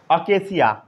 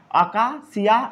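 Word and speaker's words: acacia: अकेसिया, कई लोग इसे अकेसिया भी पढ़ते हैं, आका अकासिया या अकेसिया. सबसे अच्छा अकेसिया पढ़िए. आ गया समझ में? कस्कुता सराउंड अराउंड दी बबूल या अकेसिया ट्री.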